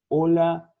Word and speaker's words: hola: Hotel, hola, hombre, nunca se pronuncia o H, tá bom?